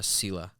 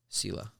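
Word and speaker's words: сила: how it's spelled but it's in Russian it's pronounced uh Sila Sila that's good I just I just put an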